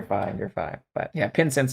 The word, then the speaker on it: Pincince: you're fine but yeah pen sense like incense with a p but yeah I really